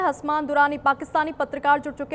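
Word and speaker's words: Hassam: Correction मेरा नाम हसाम है।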